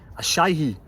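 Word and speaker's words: Asahi: Ashai. That's how you pronounce it.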